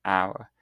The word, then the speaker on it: hour: For instance, use an before words with a silent h. So for example, an hour.